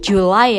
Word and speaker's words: July: January artinya Januari, February, March, Maret, April, May, June, Juni, July, ini July ya bacanya bukan Juli lagi, July, Juli, August, Agustus, September, October, November, and then the last one, yang terakhir, December.